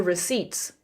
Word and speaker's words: receipts: Slang, show me the receipts. Show me the receipts. Pronunciation, it's a weird word. The P is silent. Receipts. Show me the receipts.